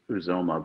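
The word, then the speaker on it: Uzomah: from uh from kansas state it's actually is uzoma but some people say it was omar um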